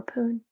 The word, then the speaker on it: Pune: Do you pronounce it Pune? Or Pune?